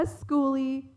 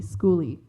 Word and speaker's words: skoolie: a school bus house is called a schooly spelled with a k that's s-k-o-o-l-i-e schooly and a living space